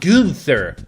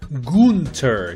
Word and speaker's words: Gunter: No, not Gunther. Gunter. G-U-N-T-E-R. Like it's spelled in the game right now.